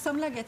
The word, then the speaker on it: Samlaget: Pronunciation of the publishing house. Yeah, Samlaget, yes.